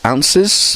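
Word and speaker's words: oz: use that and it's often written o zed but pronounced ounce or ounces it's been a bit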